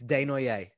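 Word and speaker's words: Desnoyers: of course say it directly so it's it's de noire de noiere okay we got it he plays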